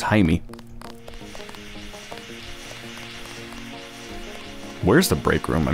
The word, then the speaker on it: Jaime: I thought his name was Jamie, but apparently it's pronounced Jaime.